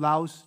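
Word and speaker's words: laus: kriste all right and the laos here uh here's your au diphthong so it's just one sound laos tb crease day laos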